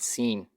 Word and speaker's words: س: Sin is a whistling type of sound. The tongue remains between the upper and lower incisors, allowing the air pass through above and below the tongue. S, s, sin.